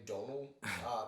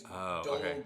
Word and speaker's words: Domhnall: He's Scottish or Irish, so you pronounce his name Donal. It's like it's spelled like Domhnall, and his name's Donal Gleeson, and he's General Hux in the yes.